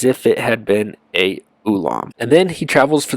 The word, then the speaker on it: Olam: of the two words ulam and Olam they're pronounced virtually identically um if you wanted